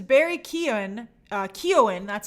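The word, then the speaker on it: Keoghan: now hey jacob hey daven mika says barry keown uh keown that's how you pronounce his name is joker do you think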